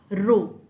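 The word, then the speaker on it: rho: Now some authors prefer to denote it by the Greek letter row. If you spell it, it is R H O.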